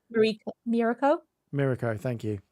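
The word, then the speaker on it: Mirko: Mirao. Thank you. It's because I I haven't like heard the character's name's pronunciation, so I'm probably reading that going uh My Roco or something like that.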